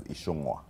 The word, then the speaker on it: Ichung'wah: Growing up, where I come from, people don't know the name is pronounced as Ichung'wah.